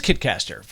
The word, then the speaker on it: Kitcaster: do i get all these amazing guests it rhymes with kitkaster okay maybe it doesn't rhyme it is kitkaster the success of this podcast is primarily because